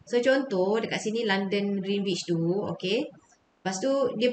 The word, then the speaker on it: Greenwich: Dia kata, yang garisan kita pronounce dia Greenwich lah. Greenwich. Tapi, in Malaysian, we always say Greenwich.